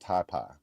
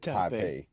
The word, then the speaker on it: Taipei: It's like Oh, and uh John said t it's pronounced taipai. I think it said Taipei or was it? Yeah, I said he said Taipei.